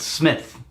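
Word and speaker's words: Psmith: PG woodhouse character called Smith with a P PSF okay right and he always introduces himself is my name is Smith the P is silent and he's freakishly intelligent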